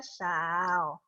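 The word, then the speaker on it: 少: agak jelek yang penting kalian tahu ya ini bacanya saw oke oke misalnya nah ini tuh tadi kan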